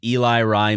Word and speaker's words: Ellery: It's just Eli Rye because it's... That's how I do it. Yep. I used to say Ellery, mm-hmm. like celery, but for me it's Eli, like middle name, Rye, yeah, little short in first name.